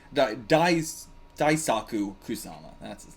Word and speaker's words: Kusama: I thought you guys said you took out Kusaku! Or Kusama. Right, got his name wrong. Daisaku Kusama.